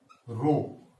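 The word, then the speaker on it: rho: तो हम लिख सकते हैं जहां रो, इसको आर एच ओ प्रोनाउंसिएशन होगा, एक स्थिरांक है जिसे विलयन का विशिष्ट प्रतिरोध कहते हैं।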